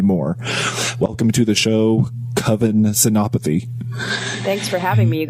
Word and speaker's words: Kavin Senapathy: Welcome to the show, Kavin Senapathy. Thanks for having me, you guys, and you pronounced my name perfectly, which rarely happens.